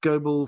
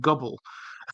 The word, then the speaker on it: Goble: there is uh Elizabeth Goble for Super Chat for actually pronouncing my last name correctly earlier and not saying gobble well um thank you